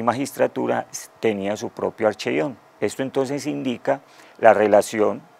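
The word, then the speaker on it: ἀρχεῖον: al mundo occidental el término de archivo, es archeion, como se pronuncia la palabra.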